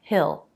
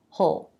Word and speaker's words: he'll: yo yo third person he will becomes heal we'll usually reduce that and change the vowel to it so it sounds like Hill he'll be back later or we might reduce it to the schwa so it sounds more like just the H sound and the dark L whole be back later